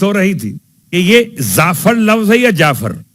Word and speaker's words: جعفر: خیر, بات ہو رہی تھی کہ یہ زعفر لفظ ہے یا جعفر؟ اصل لفظ جعفر ہے, جعفر کا تلفظ ہے زعفر.